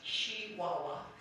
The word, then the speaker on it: Chihuahua: a business in Chihuahua which the local newspaper was careful to say should be pronounced she Wawa so Mr Mr very